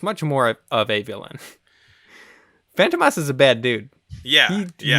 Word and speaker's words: Fantômas: on Glenn um well the phantomas or phantomas to say it correctly um is a I